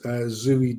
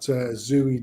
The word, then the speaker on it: Zooey: Whenever there was a film on, oh, that's that Zooey Deschanel or Zoe or whatever. It's spelt Zooey, but I think she calls it Zoe or whatever crap like that.